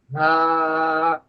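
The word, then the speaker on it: ه: হা। একেবারে মুখ ভরে বাতাস বের করবেন। হা। হা। এই মুখের ভেতর থেকে যে বাতাসটা বের হবে এটা যেন কোথাও বাধাপ্রাপ্ত না হয়, তাহলে হায়ের উচ্চারণ হয়ে যাবে।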